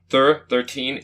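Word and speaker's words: Thir13en: then we also watched thur 13 and ghost 13 ghosts i've seen the title it's spelled t-h-i-r 13 e-n that's thur 13 in but it's a good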